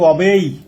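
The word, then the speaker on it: obey: Bound মানে বাধ্য, bound to অবেই, এর উচ্চারণ হবে অবেই, bound to অবেই দ্য ল অফ the country.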